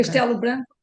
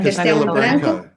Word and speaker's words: Castelo Branco: is it Casabranco? Yeah, Casabranco, that around that central Portugal. Did I pronounced it poorly? Casa Branca. Castelo Branco. Yeah, Castelo Branco.